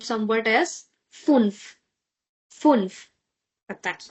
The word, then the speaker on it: fünf: Number 5 is called fünf, fünf. If we skip these umlauts, then it will sound somewhat as fünf, fünf.